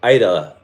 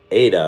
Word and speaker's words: Ida: I think I mispronounced it in the last few videos, but now I know it's Ida and not Ada or whatever else I said.